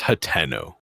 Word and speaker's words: Hateno: if I'd it like was to think about Hatino, there would be 2 E's there or an EA. So I feel like it's Hateno, especially knowing like a little bit more about how Japanese tend to pronounce their names. I have a feeling that it would be pronounced in the language it was created in as Hateno.